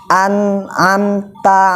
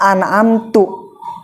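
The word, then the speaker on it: أنعمت: Contoh, an'amta alaihim, harusnya an'amta ya, artinya apa? Yang telah memberi nikmat, engkau yang telah memberi nikmat. Kita bacanya bukan an'amta, malah an'amtu, aku telah memberi nikmat.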